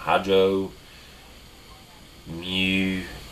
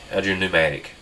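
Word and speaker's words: hydropneumatic: I believe the P silent. Hydro pneumatic. Hydro pneumatic.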